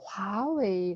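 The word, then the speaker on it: 华为: 여러분들이 화웨이가 되겠는데요 어 그냥 병음으로 이렇게 표기하는 경우가 많습니다 그래서 아마도 여러분들께서 그냥 화웨 이렇게 발음을 하실 텐데 중국어로는이 앞에 나와 있는 단어처럼 모두 어 이성 있니다 그래서 화웨 화라고 발음을 해주시면 됩니다 링 토링 자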